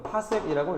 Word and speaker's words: 파섹: 연주시차가 1초면 얘가 1파섹, PC라고 적고요. 이거 파섹이라고 읽어주면 됩니다.